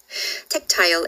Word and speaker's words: tactile: 연민으로 가득 찬 그늘은 offers a tactile, 네, tactile이라고 해도 되고 tactile이라고 발음을 하셔도 괜찮아요. tactile embrace, 촉각적인 포옹을 선사하고 and effortlessly bridges the useful with the timeless.